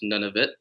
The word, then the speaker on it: Nunavut: it's it's a territory it's pronounced none of it so that's what I